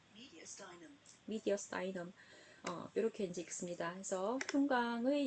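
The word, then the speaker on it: mediastinum: 미국식 보시면 미디아스터넘이라고 얘기를 하죠. 미디어스타이넘.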